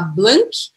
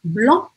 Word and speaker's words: blanc: E o que acontece com o C ao final? Não pronuncia. Barra aí esse C no final. E eu não vou falar blank, mas eu vou falar blanc.